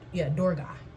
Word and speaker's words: Durga: As an aspect of Devi was called into being in the rid of the world of evil demon Durga, pronounced Durga.